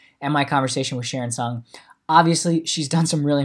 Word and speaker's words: Tseung: have youtube so it's my full name sharon son last name it's hard - hard to pronounce or people think it's hard to pronounce